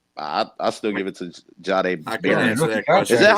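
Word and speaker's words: Jahdae Barron: I still give it to Jahad Barron. Is that how you say his name? In the NFL? Jahade. Really good. Just say Jahade Barron.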